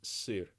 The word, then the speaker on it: сыр: do you okay so I'm gonna guess it's pronounced suit really okay so the word is seer and it took me a long time before